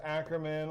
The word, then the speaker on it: Ackerman: Like, it's like, Mr. Ackerman. It's like, no, it's Ackerman.